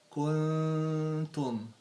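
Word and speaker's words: كنتم: So the Noon has sukun followed by ta, which one of the 14 letters of the Ikhfaa or hiding. So when we pronounce it, if this is the tongue, we try to keep it down. So the correct way is kuntum. I am trying to put my tongue down in the bottom of my mouth.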